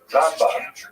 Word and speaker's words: Rambam: all your friends there, Rambam is pronounced with the emphasis on the first syllable, Rambam, and Ramban is pronounced with the emphasis on the second syllable, Rambam and Ramban. That's also helpful because if you can't quite make out the N or the M difference, then it helps to hear the accent.